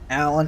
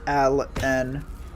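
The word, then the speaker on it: Al-An: out I'm pretty sure Allan isn't the correctly to pronounce his name I'm pretty sure it's Al and The Hyphen in the middle how he pronounced it the first time what the thing back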